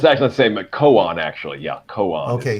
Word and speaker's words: koan: And then it's koan. Like I think it's a last name of a Jewish person too.